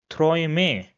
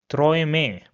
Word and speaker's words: Träume: So the next combination is A umlaut and U, and this is pronounced as oi.